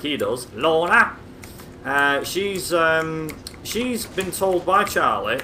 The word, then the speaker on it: Lorna: So the whole point of this mission is Charlie's girlfriend, who's called Lorna, and to pronounce it like he does, Lorna.